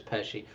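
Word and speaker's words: Pesci: Robert Dairo Joe Pesi I'm all these names. Alcino Pesi Pachet F. How do you pronounce it? Peshi I'm pretty sure it's Peshi.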